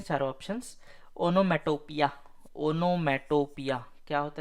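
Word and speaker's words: onomatopoeia: को कहते हैं अपन ओनोमेटोपिया इसका स्पेलिंग देख लीजिए भाई पूछ सकता है ओनो मेटो पोया पोया पोएम वाला पोया ठीक है नेक्स्ट रेडंडेंट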